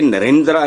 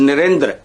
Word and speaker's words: नरेंद्र: नरेंद्र मोदी ये same silent होता है जो ए होता है। मतलब आपने कभी सुना है किसी से हिंदुस्तान में धर्म्रा धर्मेंद्र यह इसको इस तरह पखरोट के नरेंद्र नहीं इट इज़ नरेंद्र हल्का सा हम और धर्मेंद्र जितेंद्र